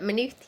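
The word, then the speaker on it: Maynooth: May is that how pronounce it? May. That's it. Manuth.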